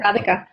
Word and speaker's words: Radhika: yeah really really interesting talk with uh with retica am i saying it right i keep thinking yeah radhika radhika um so redika i wish you all